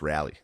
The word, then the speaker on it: Raleigh: we come back we yeah it's pronounced rally everyone gave me for it's Raleigh apparently no it's rally I like I like